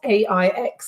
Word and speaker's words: Aix: That's where you find the appellation of Aix-en-Provence, A-I-X. Is that how you pronounce it? Yep, Aix.